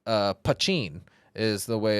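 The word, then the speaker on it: poitín: it's a essentially Irish moonshine but it's uh pachin is the way it's pronounced and it's a mountain strength crafted in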